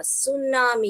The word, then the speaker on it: tsunami: सुनामी। ये जो टी है साइलेंट है।